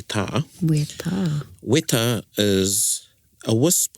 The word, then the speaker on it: weta: So if you looked up weta, which is a common mispronunciation, is that a word? Yeah. Yeah. For the New Zealand native beetle, we all know, or we think is a weta, but it's actually a weta.